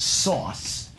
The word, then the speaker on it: SOS: The operating system, you know, SOS, it was supposed to be pronounced sauce.